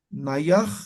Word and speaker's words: nayaj: Naya, ahí hay un corte. No sé si se dan cuenta, a ver si pronuncian, Naya ictua, Naya ictua. Ahí hay un corte. Entonces, para suavizar ese corte, Nayaj ictua, Nayaj, ¿eh? Lo suaviza ese corte, esa, ese corte de palabra, de sonido que hay.